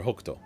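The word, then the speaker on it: Hokuto: Dipper right that's that in the Japanese dub they call her hokto but it's the exact same name and it has the same exact meaning it's just pronounced differently because for whatever reason they're reading it in kunyomi probably because I don't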